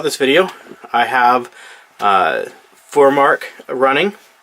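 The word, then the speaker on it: FurMark: video I have a four mark running believe that's how you pronounce it f you are ma RK for mark the reason for this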